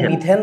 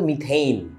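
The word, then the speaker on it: methane: যেটাকে তুমি মিথেন বলতেছো, অ্যাকচুয়ালি এটার উচ্চারণটা কিন্তু মিথেইন বলছিলাম আগে।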